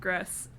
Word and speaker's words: Gris: Let's move on to GRIS. That's 100% wrong. This game, the game that we are talking about now, is Look, Gris. I'm just gonna call it Gris, and you're gonna call it Gris, and okay.